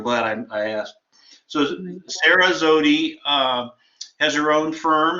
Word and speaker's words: Zewde: say your last name is it zood or zoom zodie like zodiac without that cool i've been saying it wrong so i'm glad i asked so sarah zodie uh has her own